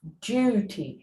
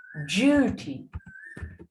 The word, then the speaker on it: duty: දැන් මතක තියාගන්න ඕනේ D වලට පස්සේ U කියන letter එක ආවම අපි ඒක pronounce කරන්නේ මේ D එකට පස්සේ U ආවම අපි D pronounce කරන්න ඕනේ J හැටියට. Duty.